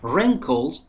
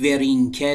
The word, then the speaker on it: wrinkle: She has wrinkles around her eyes. Wrinkle. به تلفظش دقت کنید. ورینکل نیستا. Wrinkle. Wrinkles.